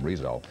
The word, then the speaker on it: Rizzo: jersey by the way that's the way the family pronounces the name rizzo rizzo began his career